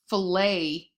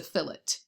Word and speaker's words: fillet: sorry for the English it's not a um filet chicken breast it's a fillet a chicken fillet not a chicken filet um